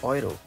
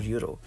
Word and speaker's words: Euro: EU together will always be pronounced as OI.